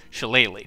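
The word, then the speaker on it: Shillelagh: ignore this one Thorn Whip and most importantly shalele which yes is how you pronounce it shalele lets you turn any any staff or Club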